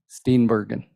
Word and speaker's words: Steenbergen: Steenbergen, Steenberg. like the actress, but with no U.